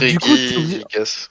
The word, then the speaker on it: Regigigas: fait, Reggie, c'est sûr parce que c'est du latin, donc on doit dire Reggie. Sauf que après, ça part sur du français. Donc Reggie Gigas. du coup, c'est Reggie Gigas.